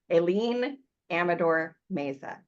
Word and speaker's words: Aileen Amador Mezza: Let me make sure I'm pronouncing it right. Aileen Amador Mezza. Yes? Hello. Yes, you are.